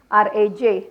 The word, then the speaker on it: Raj: there there it go r AJ Raj is how I get pronounced sometimes it get confused